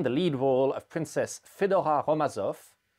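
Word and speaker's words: Fédora: lead role of princess fedorha romazoff fedora being the french pronunciation of fedora a russian variation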